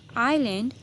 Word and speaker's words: island: आइलैंड, ISLAND, इसको एस नहीं बोलेंगे, एस को हम साइलेंट कर देंगे, हम क्या बोलेंगे? आइलैंड, ISLAND, एस लिखने में आएगा लेकिन बोलने में नहीं, आइलैंड।